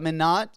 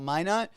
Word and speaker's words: Minot: weeks and every time they always butcher the town that where I live in they always call it Minot it's called Minot um but yeah they